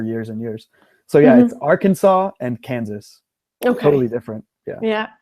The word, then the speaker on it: Arkansas: is for the state Arkansas right because it's spelled like Arkansas I would ask on the end but you're gonna say Arkansas is that correct yeah it's very strange so a lot of the states in the u.s.